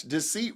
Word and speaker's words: deceit: Deceit rhymes with receipt.